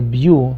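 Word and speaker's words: Beau: Las líneas de Bew, se escribe B-E-A-U, son depresiones a través de la uña.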